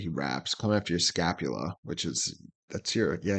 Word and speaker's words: scapula: know the scap the scapula is the shoulder blade for sure um the frenic nerve it does come into your throat yes it's your shoulder blade yeah I think it just rhymes with Dracula you know it's also